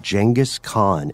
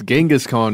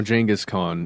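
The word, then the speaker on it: Genghis Khan: likely doomed quest to find the grave of jangus Khan and we also discovered that is the correct pronunciation yes genas Khan is now jangus Khan like like d Jenga like the game new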